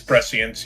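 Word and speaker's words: prescience: Those are the I'm going to mispronounce this, but I think it's precience pre-science. It's precience.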